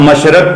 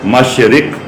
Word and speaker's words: مشرق: ہے وہ ہے بادل۔ ہم مشرق پڑھتے ہیں، جبکہ اس کی درست تلفظ ہے مشرق۔ ہم صبح پڑھتے ہیں،